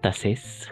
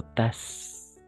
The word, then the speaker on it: tasses: Pas tasses, sino tas. Oui, tas, ¿d'accord? Tas. No olvidemos, son las vocales, son las letras mudas. Hemos visto cuáles son las letras mudas. E, H, T, S, X. Si están al final estas letras, no van a pronunciarse.